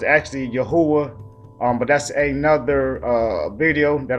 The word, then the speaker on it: Yahuah: All right, but for this sake, I'm going to pronounce it the way the concordance did. All right, So it says Yahuah, all right?